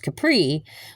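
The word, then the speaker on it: Khepri: Capri, spelled K H E P R I, but still pronounced Capri, was an ancient Egyptian beetle god, and he was a sun god.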